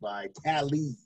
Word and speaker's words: Vitale: And defensive back Adrian Phillips and fullback Dan Vitale, pronounced by Tally.